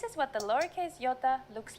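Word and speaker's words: ιώτα: is a vowel that you may have heard called iota in greek though it is called yota and it makes the sound ee again this will look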